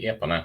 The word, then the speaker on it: Epona: How do you pronounce that? Epona. Yeah. We say in Sweden we say Epona.